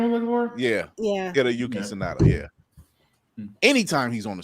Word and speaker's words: Hiroyuki Sanada: Hiroyuki or Hiroyuki Sanada. Hiroyuki Sanada, is that what your name was looking for? Yeah. Hiroyuki Sanada.